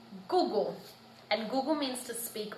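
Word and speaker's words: kuku: So for example, Google is spelt K-U-K-U, but pronounced like G-U-G-U, Google.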